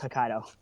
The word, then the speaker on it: Hokkaido: of, which was, I'm gonna butcher this, the Hokkaido period, I'm pretty sure it's called. I probably butchered that. It's probably might be the wrong period, but No, essentially- you're correct. It's pronounced Hokkaido.